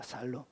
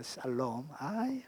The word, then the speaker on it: 샬롬: 여러분이 잘 아는 살롬입니다 살롬 그래서 이스라엘 백성들은 제가 여기 발음이 안 됩니다 야 발음이 안 돼 살롬입니다 샬롬 어렵다 발음이 그래서 늘 이스라엘 백성들은